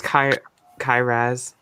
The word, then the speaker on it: Kyrass: I've known you for ages and I still don't know how to pronounce it. It's Kyrass.